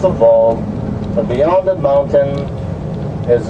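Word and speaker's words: vog: That's called a Vol. It's spelled V as in victory, O-G, pronounced a Vol.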